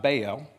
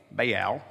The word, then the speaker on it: Baal: Now, what you have to know is that the the god Baal, Baal is what it's pronounced, but Baal for us southern people.